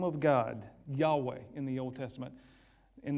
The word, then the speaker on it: Yahweh: y h w h mankind has come along and added the vowels and tried to say it as we might say it it would actually be like yahweh if we were saying it correctly as a jew but the name of